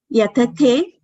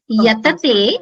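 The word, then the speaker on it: यतते: Yatate. Yatete. Yatante. Everything, it is it's Alpa Prana. So you don't have to pronounce it with Mahaprana. Yatate is with Alpa Prana. Yeah. Yatate.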